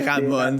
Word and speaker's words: Ramones: Pardon pour la prononciation, encore une fois. Les Ramones, c'est correct.